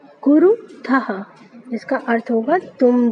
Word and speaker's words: कुरुथः: फिर देखिए कुरुथः, था के साथ जो विसर्ग लगा है इसको हा करके पढ़ते हैं ना, इसका उच्चारण में हा आना चाहिए, मैंने आपको बताया था। तो इसको पढ़ेंगे कुरुथः, इसका अर्थ होगा तुम दो करते हो।